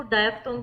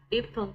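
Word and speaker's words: diphthong: तो इसको डायथोंग भी बोलते हैं और डिप्थोंग भी बोलते हैं।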